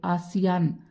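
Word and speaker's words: ASEAN: south east एशियन Nations यह एशियंस इसकी एशियान आसियान आप मेरी बातों को समझिए किस तरीके से मैं प्रोनाउंस कर रहा हूं देखिए आसियान यान का हेड क्वार्टर कहां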